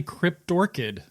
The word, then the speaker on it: Cryptorchid: kryptor kid Krypto I don't know how to pronounce that stroking out Derpy derp der uh it's it's actually cryptorchid is Marilyn Manson cryptorchid and then Marilyn Manson